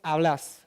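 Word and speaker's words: hablás: you would say vos hablas. So the accent goes on the stress goes on the last syllable.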